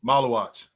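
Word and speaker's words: Maluach: Malawatch. Malawatch. Malawatch. I can't say anybody's name. Pocket watch. It s it it rhymes with pocket watch.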